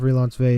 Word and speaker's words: Relansové: It's a noun, and my definition of Relansové is a serious and official romantic / sexual relationship between two people. And then I said, spoiler, the O is silent.